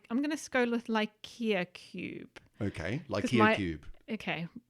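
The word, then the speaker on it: LICIA: a brilliant acronym well I'll tell you what it stands for first because I think that gives you some hints the pronunciation uh it's the light Italian Cube set for Imaging of asteroids nice nice okay yeah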